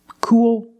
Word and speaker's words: cool: Cool, pool, tool, and fool. You see the same spelling, double O plus L, and the same pronunciation. It's the long oo sound plus the dark L.